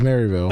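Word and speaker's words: Merrillville: Is it Marville? Yeah, it was Marville. No, spell it. M E R R I Yeah.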